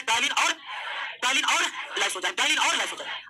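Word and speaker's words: ptyalin: टाइलिन का P silent रहता है दोस्तों, इससे टाइलिन नहीं पढ़ते।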